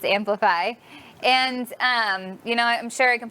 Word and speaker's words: Amplifei: It's spelled different. It's AMPLIFEI. So it looks like Amplify, but it's Amplify.